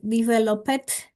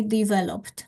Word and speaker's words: developed: For all students, we have the tendency to underline like developed. This ed ending is silent. I mean, I developed. This is the correct pronunciation of that.